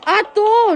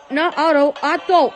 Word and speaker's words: Otto: It's Otto, not Otto.